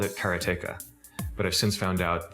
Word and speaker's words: Karateka: In Japanese, there's no stress on any syllable, so it would be Karateka, something like that. I called it Karateka, but I've since found out that pretty much everybody pronounced it differently.